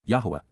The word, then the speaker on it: Yahweh: for the on inspiring nature of C perfect Yahweh Yahweh an accurate pronunciation of God's personal and proper name as